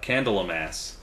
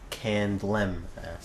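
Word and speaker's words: Candlemass: next review that you did, which was uh, Candelams. Yeah, it's actually pronounced Candlem.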